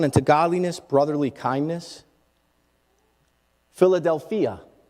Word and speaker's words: Philadelphia: Philadelphia is actually how it's pronounced in the Greek.